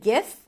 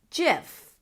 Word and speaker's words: GIF: people might say, okay, it starts with a G like guitar and great and give. So, it should be pronounced with a G sound, the hard G sound. But others may claim that yes, maybe the word starts with a G, but other words start with a G and pronounced with a J as in giraffe or ginger.